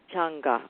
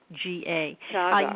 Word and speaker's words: Chaga: How do you spell that, Sandy? Changa. Changa, okay.